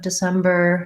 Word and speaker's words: December: and different and then the letter c can be a little confusing because it says the s sound so i might rewrite that with letter s to sem bur and then i might just put b r together here at the end because the bur is short and unstressed as well in american